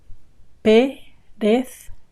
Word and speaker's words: perezca: this one here, perezca, chop it into syllables. Perezca, ka, ka. And then put them together. Perezca, perezca. And then 2 words.